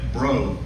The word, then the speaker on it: Bro: I was told by Bird on the way down here uh that bro that it's pronounced bro, not broad.